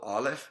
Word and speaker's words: Aleph: that you're saying it, although Aleph is silent along with the ayin, which we will emphasize later, it takes on the whatever vowel sound is there, and by and large, there's some things we could say historical.